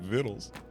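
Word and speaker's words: victuals: Also, thank you very much to the person who told me that's pronounced viddles.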